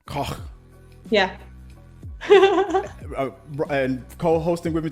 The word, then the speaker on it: Koch: Is it Koch? It's like you're hacking up a hairball. Koch. Koch.